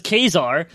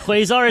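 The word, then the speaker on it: Ka-Zar: Wolverine is somehow in there, so is Kazar. And then he's finding a T-Rex, and then afterwards he defeats the T-Rex, and he tries to cook the T-Rex over a fire. It's pronounced Quasar. It's not Quasar, it's Kazar, motherfucker.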